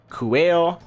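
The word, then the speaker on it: Quale: So, it's Kuina, Kuail, and Kuan, which, unsurprisingly, are similar to their Japanese names.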